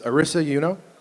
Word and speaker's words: Arisa Euno: And this is Arisa Euno.